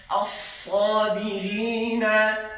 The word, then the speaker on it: الصابرين: কি কি আয়াত আছে as-sabirin আগে বলছি মোটার উচ্চারণ করার সময় ঠোঁট সামনে আসবে একসাথে বলো as-sabirin as-sabirin